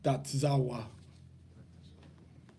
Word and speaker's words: Tetzaveh: In the modern is in the pronunciation is Tetzaveh. I can't handle this is the E, but you're gonna say it as an I. This is the I, you can pronounce it as an A.